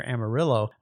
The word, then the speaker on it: Amarillo: time he lived near Amarillo where they did pronounce the two L's even though that's a Spanish name for I think yellow Amarillo